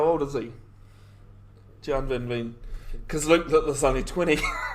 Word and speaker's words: Gian van Veen: Gian Van Veen.